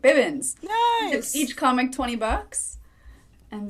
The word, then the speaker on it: Bibbins: My last name is pronounced Bib, like baby Bibbins. Yeah, I said it right. Bibbins.